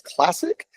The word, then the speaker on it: CLSC: That CLSC um acronym we pronounce as classic.